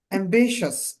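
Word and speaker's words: ambitious: অ্যাম্বিশাস, উচ্চাকাঙ্ক্ষী, উচ্চাকাঙ্ক্ষী, যার অনেক বড় আশা থাকে। অ্যাম্বিশাস, অ্যাম্বিশাস, দেখেন টি আই ও ইউ এস, তো এখানে উচ্চারণটা কি হচ্ছে? শ্বাস উচ্চারণ হয়েছে আর কি।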